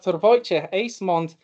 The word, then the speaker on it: Wojciech Ejsmond: Wojciech Ejsmond. Is that a correct pronunciation?